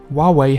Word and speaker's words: Huawei: Huawei has also faced many challenges in consumer branding. Now Huawei, pronounced Huawei, does not translate easily.